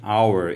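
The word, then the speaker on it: hour: মনে রাখতে হবে এটার উচ্চারণ হাওয়ার হয় না, এটা উচ্চারণ হচ্ছে আওয়ার। এখানে এইচের উচ্চারণটা অ্যাকচুয়ালি উজ্জ্ব থাকে, এইচের উচ্চারণটা হয় না, কেমন?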